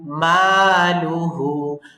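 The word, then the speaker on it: ماله: ইজহার স্পষ্ট আনহু মালুহু মালুহু মা তে টান দিব আর লু তাড়াতাড়ি হু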